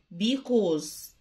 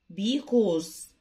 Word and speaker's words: because: لأن because، حرف السي بينطق كي because because.